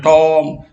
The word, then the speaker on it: tomb: Here B is silent, సమాధి. B చివరిగా వచ్చినట్టయితే ప్రొనౌన్సియేట్ చేయదు. Words inscribed on a tomb is called epitaph.